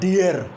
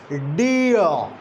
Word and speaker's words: dear: It's not dear. It's dear. R is silent. Just consult my last lecture. I told you that post vocalic ra is never pronounced most of the times. In standard pronunciation, in a British pronunciation, this r, post vocalic r, is a common casualty.